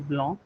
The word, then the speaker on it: blanc: For example, the word for white is blanc. C is silent at the end, not pronounced.